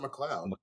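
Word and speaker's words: MacLeod: Jess M mleo mle moud McLoud how's it McLoud moud I only know that because of Highlander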